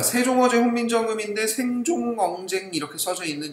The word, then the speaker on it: 세종어제: 동국 정신 한자 표기에서는 받침이 없으면 형식 종성 이응을 표기하는데 발음하지는 않는다. 그래서 생종엉 써져 있지만 세종어제 이렇게 읽는 겁니다.